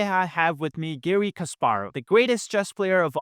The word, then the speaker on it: Kasparov: a little preparation, because rarely in America people pronounce my family name with the Russian emphasis, because in America it's always Garry Kasparov, and you said Garry Kasparov. This is very Russian.